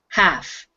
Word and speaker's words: half: mention here jesus is you don't have to pronounce the l in that word it is a silent l so it's just half half yeah so it